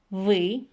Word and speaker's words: вы: As you can see, ты, мы, вы have a weird sound in the end.